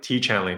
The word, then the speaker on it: Tiege Hanley: So you've heard it from Kelley, Tiege Hanley.